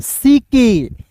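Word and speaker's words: sick: देखिए एस आई सी के। तो यहां पे सी के है तो इसका उच्चारण क के रूप में एस आई का सी और सी के को पढ़ेंगे क। एस आई सी के को सिक।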